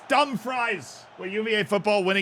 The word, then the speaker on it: Dumfries: Dumfries. That's how you say it, chat. I was freaking right. Dumfries. It's dumb fries.